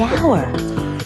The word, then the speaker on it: hour: owner the animal the hour h is not a vowel sound it's a consonant sound but it's not the first sound the h is silent the hour but what about the